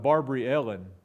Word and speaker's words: Barbara Allen: Ozarks, who I believe they sing Barbary Ellen, which was very common in the Ozarks for old-timers to pronounce Barbara Barbary and Allen Ellen.